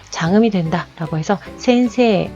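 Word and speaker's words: 先生: 에와 이가 만났을 때는 에이라고 발음하지 않고 에라고 장음으로 끌어준다라는 거죠. 자, 같이 볼게요. 자, 센세, 요 발음 선생님이라는 뜻의 센세, 센세이 라고 발음하지 않죠.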